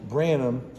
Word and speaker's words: Branum: foreign so hanging here with uh Justin Branham and am I pronouncing that right that's correct yeah ran up